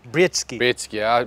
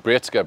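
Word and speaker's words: Breetzke: How do we pronounce his name? Britsky. I played a season with him at the leagues before this one, before the Betway, and his Betway SA20 started. I used to call him Britska, because Britska, I went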